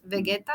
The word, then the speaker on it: Vegeta: It's called Vegeta, Hmm. but Vegeta, it's the correct way to pronounce it.